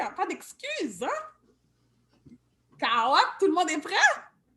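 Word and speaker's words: kawòt: Carotte. Rappelez-vous, le W, c'est comme un petit OU. Carotte.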